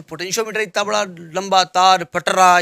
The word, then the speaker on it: potentiometer: ये पोटेंशियोमीटर है, पोटेंटियोमीटर नहीं है।